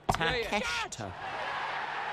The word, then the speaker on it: Takeshita: Is that how you pronounce it? Takeshita.